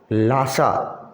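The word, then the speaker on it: Lhasa: ये भी Tibetan word है, इसमें ना एच जो है इसको साइलेंट रखना है, तब प्रोनाउंस करना है। लासा, अगर एच, क्योंकि एल के बाद सीधा एच आ गया है, कोई बीच में जोड़ने के लिए कोई वॉवल नहीं है। एच जो है वो साइलेंट करके इसको पढ़ेंगे, लासा।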